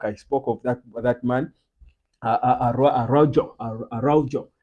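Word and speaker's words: Araújo: Araujo. But I think the Uruguayan pronunciation should be Arroyo or something like that.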